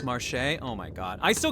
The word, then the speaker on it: Marche: Marsh is pronounced Marche?